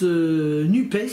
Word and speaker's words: NUPES: et sociale alors c'est bien alors ça se prononce nubes normalement mais personne n'ose dire nubes l arrêt